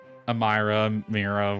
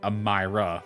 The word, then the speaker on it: Amira: It's getting kind of Mira, whatever. Amira. I've heard it pronounced both ways, actually. I think it is, in fact, Amira, though.